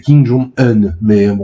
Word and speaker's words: Kim Jong Un: Kim Jong la vraie prononciation c'est Kim Jong Un Kim ça passe vra et on va parler de son daron là mais oui oui je sais.